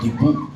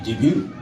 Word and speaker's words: debut: nagdebut tayong Pilipino k We always say debu um the right way to pronounce it would be debut normal so naga kami